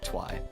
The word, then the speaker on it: Twi: I don't like that you can't pronounce it like Twi like I kind of wanted to try and think of one where you could actually pronounce it like my name so that people stop calling me twe or like um but